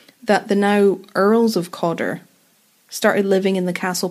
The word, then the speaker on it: Cawdor: calder oh yeah but the name was changed by lord john campbell who changed the name of everything basically overnight to codder and codder is closer to the english pronunciation of calder i wondered if that